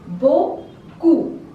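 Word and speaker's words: beaucoup: handsome third word is Boku here p is silent Boku Boku means a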